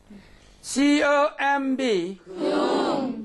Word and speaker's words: comb: C-O-M-B. Comb. We don't say it.